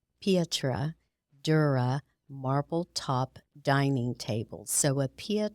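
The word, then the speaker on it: pietra dura: this is a um is a tricky word to say it is Italian and I'm trying to remember how to say it I had to look it up actually it's um Petra Dura marble top dining table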